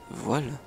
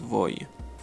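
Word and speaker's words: voe: Voile. Et non, pas voile, on prononce voy. Il faut bien insister sur le i tréma.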